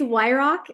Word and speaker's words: Weyrauch: find you yeah um it's w Rock it's so simple rock it is but